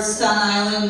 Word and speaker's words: Staten Island: That's one word, Staten Island, if you want to pronounce it correctly.